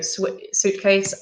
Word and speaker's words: suitcase: which has RIS worden suit we do not pronounce the eye okay so suitcase and swimsuit yes so soon and yeah if